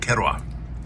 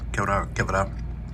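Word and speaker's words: kewra: So there's this floral flavor in here, which typically isn't in here, and it's called kerwa. And I always say it wrong. Kevra.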